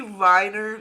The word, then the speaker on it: Weiner: I guess it wouldn't stop as much, but it's supposed to be whiner. Like whiner.